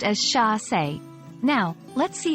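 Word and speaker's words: chassé: capturing a graceful Pursuit getting the pronunciation right is crucial especially since it's a French word chass is pronounced as Sha now let's see how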